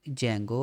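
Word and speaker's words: Django: could not कह रहा है could not import जंगो आर यू शोर इट इ installed and available on your Python ठीक है जो भी ये कह रहा है इसका मतलब ये है कि पाइथन हमने जंगो इसको सॉरी इंस्टॉल नहीं किया तो हम क्या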